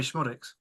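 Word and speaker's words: Szmodics: Dan Smodics. How do you pronounce it? Sammy Schmodics.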